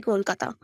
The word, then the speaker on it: Kolkata: Last year, KKR couldn't make Owen Morgan say Kolkata, and I was so pissed off because we don't even win, and the captain couldn't say the name right.